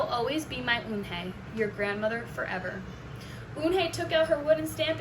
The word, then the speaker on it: Unhei: Your name is Unhei?"